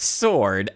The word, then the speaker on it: sword: a silent E, but the word sword itself has a silent W, not an E. Pronounced sword, S-O-R-D.